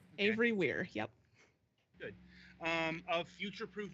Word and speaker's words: Avery-Weir: Am I pronouncing that right? Okay. Avery-Weir, yep.